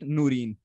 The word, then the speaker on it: Noorin: Noreen. Yeah, Bro, Noreen. DID It's में आपका basically misspell क्या पता है? हाँ, it's pronounced as Noreen, हाँ, but हाँ.